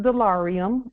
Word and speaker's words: Dollarium: So it is pronounced delarium and it is and and it and it is money.